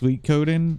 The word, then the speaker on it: Suikoden: By the way, I'm one of the people that says it incorrectly. I think it's actually pronounced Sweetcoden or Sweetcoden. I always say Sweetcoden.